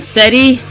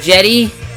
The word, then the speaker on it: Cedi: I did not know I've always called him steady but I guess it's pronounced jetty which blew my mind